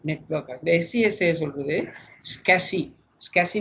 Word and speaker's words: SCSI: The SCSI சொல்றது SCSI, SCSI னு தான் ப்ரொனவுன்ஸ் பண்ணுற ஸ்மால் கம்ப்யூட்டர் சர்ஃபேஸ் இன்டர்ஃபேஸ்.